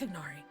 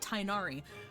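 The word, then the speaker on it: Tighnari: And it was the same thing with the Tignari fiasco. I think it's Tignari. I think it's Tignari.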